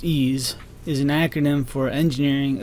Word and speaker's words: EES: e s which is pronounced ease is an acronym for